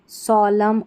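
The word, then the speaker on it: solemn: यहां पर एम एन पे अगर स्पेलिंग समाप्त होती है तो हमारा एन जो है वो नहीं पढ़ा जाता। इसको ऑटम, कॉलम, सोलम और कंडेम करके पढ़ते हैं।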